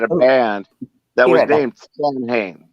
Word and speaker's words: Samhain: Samhain. Samhain. Even though it looks like Sam Hain.